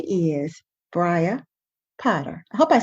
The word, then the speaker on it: Bria: shining star of this story her name is briah potter i hope i said it right brian